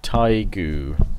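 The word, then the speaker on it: Tadhg: you can educate them oh Harold Lionheart hello hail man it's pronounced tiger I'm Irish and I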